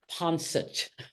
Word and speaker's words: Ponsot: ago at 98 Marie Pono p o NS o t it is a French name but she herself pronounced it in New York ponet so she said people